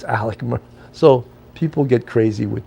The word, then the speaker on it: Alex: spelled a-l-e-x Alex but his first name is pronounced Alec so it's Alec so people get crazy